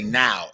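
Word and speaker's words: não: he's like now now they don't say no they say now like n-a-o that's how you spell it n-a-o with the little wiggly line at the top i forgot what you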